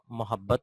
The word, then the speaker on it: محبت: یہ تلفظ جو ہے وہ دیکھیے گا غور سے، اور میم کے اوپر زبر پڑا جاتا ہے اور اس کا درست تلفظ جو ہے محبت ہے.